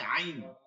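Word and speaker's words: عين: এইখানে এইখানে ঠিক আছে আইনটা হচ্ছে অলকের মাঝখানে কণ্ঠনালীতে মাঝখানে নিয়া চাপ দিব চাপ দিয়ে নিয়ে যাব আওয়াজটাকে চাপ দিয়ে ভিতরে নিয়ে যাব আইন আইন আইন আইন আইন আইস দেখেন উচ্চারণটা হবে আইন আচ্ছা শুনি আই আই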